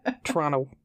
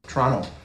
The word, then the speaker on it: Toronto: Toronto. Toronto. Canadians don't pronounce the T.